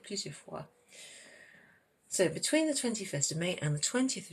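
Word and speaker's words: vingt et un: And you pronounce the T in 20. 20 is like 20 because it's followed by E, which means and. 20 and 1.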